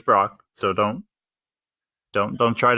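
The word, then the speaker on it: Brach's: great candy brand and I looked at pronunciation it is Brock so don't don't don't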